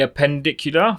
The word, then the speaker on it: appendicular: And the appendicular, that's how you say it.